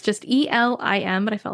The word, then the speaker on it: Elim: And yes, I did watch a funny YouTube video to find out how to pronounce Elim because I had no idea. It's just Elim, but I felt like there were so many ways I could say that.